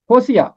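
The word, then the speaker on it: ہوسیع: زیر، نوحہ، حزقییل، دانییل، ہوسیہ، ہوسیہ عین پہ ختم ہوتا ہے، عین کے اوپر زبر ہے، ہوسیہ، یویل، آموس، عبدیہ، یونا۔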